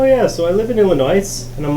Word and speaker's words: Illinois: was like oh yeah so I live in Illinois and I'm like oh nice I'm like wait you know it's pronounced Illinois he's like no I didn't and I'm like